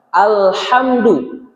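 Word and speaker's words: الحمد: Awas tertukar antara huruf ha tipis dengan ha tebal. Alhamdu.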